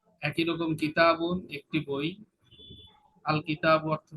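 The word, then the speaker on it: الكتابُ: এন উচ্চারণ হবে না, তানবিন হবে না।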